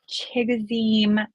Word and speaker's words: Chigoziem: I never can pronounce this first name, so I won't try, but Okonkwo. Chigoziem. Oh, Chigoziem Okonkwo.